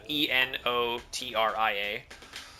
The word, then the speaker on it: Enotria: It's called Enotria, spelled with an E, so Enotria.